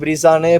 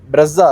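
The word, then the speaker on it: Brezza: இந்த கார்ல ஒரு நாள் இதை பிரீசானே ப்ரொனவுன்ஸ் பண்ணிட்டோம். எல்லாரும் அப்படிதான் பண்ணிருப்போம் நினைக்கிறேன். ஆனால் இது பிரஸ்ஸா போல.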